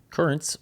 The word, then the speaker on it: Curranz: Currents, which is spelled Curranz, is a pre-workout supplement